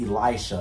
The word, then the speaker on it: Elisha: Bro, I don't like that because my substitute teachers always accidentally call me Elisha, bro. Because but it's not how you say it. It's Elisha. It's an I.